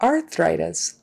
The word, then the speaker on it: arthritis: be arthritis arthritis arthritis then of course there's the th in the middle there make sure you get your th and don't put enough arthritis arthritis no it's got a bth arthritis time between the teeth arthritis which can be tricky because it's a thr blend so thr your tongue has to go out between the teeth and then back are arthritis arthritis arthritis